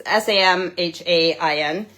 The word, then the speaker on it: Samhain: Salmon? I always forget how to say it. It's Samhain, is like Halloween, and then Ostara is like Easter.